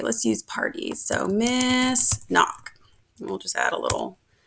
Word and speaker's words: Nock: feature to use so my name is pronounced miss knock a lot of people call me miss it does not have an s on the end so it's just n-o-c-k and let's go ahead